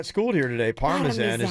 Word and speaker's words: Parmesan: If you want to say it right to an Italian person, that's how you would say it.